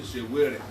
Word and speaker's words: Sowore: In Edo State, they call me Shewere. But I love it. I'm just joking. You know how to pronounce it.